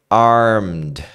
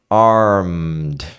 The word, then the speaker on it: armed: entra no m então Armed Armed ó nenhuma delas você vai falar o e a letra e né Kick kicked arm Armed som de D arm centra no m